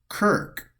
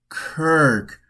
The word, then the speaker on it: Circe: Circe, ancient Greek, keeping it pronounced Kirk.